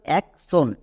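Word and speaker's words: action: এ সি এক চলে আসো এবার শেষে টি আই ও N watt pattern এর জন্য হয়ে যাবে সন। তাহলে একসঙ্গে বসিয়ে দাও এক সন।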